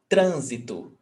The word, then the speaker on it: trânsito: And the stressed syllable is not the last, not the one before last, is the one before that one. So the antepenultimate syllable.